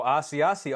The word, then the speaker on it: Asiasi: Asiasi.